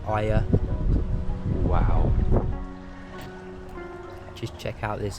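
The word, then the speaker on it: Oia: a hike from F to Oya I think it's pronounced Aya wow just check out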